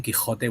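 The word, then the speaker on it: Quijote: la mancha like don quixote is that how you say it in spain uh you actually say don quixote with a that sound that hurts your throat okay but i don't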